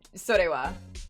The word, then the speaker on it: それは: It's just like, you know, if you have the hiragana for ha after a subject, it's probably gonna be pronounced as wa.